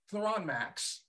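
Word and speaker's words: Thronmax: it so it's Eric what's it called again throw on max so you have it like I don't know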